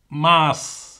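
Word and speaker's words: mars: மார்ஸ், மார்ஸ். அப்போ இதில் எஸ்ஏம் சேர்த்து உச்சரிக்கிறோம். சரி, அப்போ நான் முதல் சொன்ன நான் வந்து மெய்யெழுத்து வரைக்க நீங்கள் உச்சரிக்கக்கூடாதுன்னு சொன்னால், ஆனால் இந்த சொல்லி விதிவிலக்காக இருக்குது, உச்சரிக்க வேணும். மார்ஸ்.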